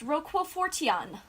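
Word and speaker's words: Roquefort: through it what's in there is what's called Roku 14 and I think I'm misspelling it here if you guys want to know the Scripps spelling mispronouncing yeah you are mispronouncing it's pronounced Rockwell 40 on is uh it's ro q ue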